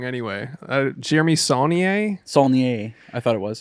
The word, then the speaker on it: Saulnier: Jeremy Saulnier, Saulnier, I thought it was.